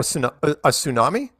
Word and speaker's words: tsunami: tsunami what oh a tsunami yeah you know but yeah you don't pronounce the T um of immigrants at